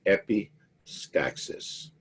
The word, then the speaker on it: epistaxis: word for it down there that word is pronounced epistaxis it means nose bleed epistaxis you got a